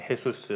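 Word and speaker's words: Jesús: J로 가고 그리고 이제 스페인어 같은 경우는 제일 앞에 오는 J 같은 경우는 흐로 이렇게 발음이 되는 좀 그런 것들이 있어요. 네, 헤수스 뭐 이제 그런데 하여튼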